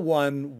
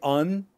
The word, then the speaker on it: one: one, sometimes they'll say un instead of one. So it doesn't matter. Both words, they have a w sound, a w sound at the beginning.